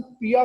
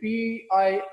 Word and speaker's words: PIA: अब देखिए इसको हम पिया प्रोनाउंस नहीं कर रहे, ये PIA एक एक लेटर प्रोनाउंस करें।